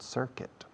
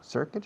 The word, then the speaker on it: circuit: Was there a short circuit? Short is corto, circuit is circuito. Fijaos en la pronunciación, circuit. Se escribe circuit, pero no digáis circuit, sobre todo los ingenieros. Circuit, porque nadie os va a entender.